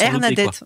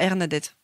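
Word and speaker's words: Airnadette: C'est comme Bernadette. Hernadette, voilà, Hernadette.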